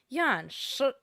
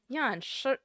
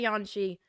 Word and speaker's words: Yan Shi: So the correct pronunciation would be Yanshi. Yanshi. My eyes look cursed right now. I just checked. But Yanshi. Again, if you don't speak Chinese, just say Yanxi, please.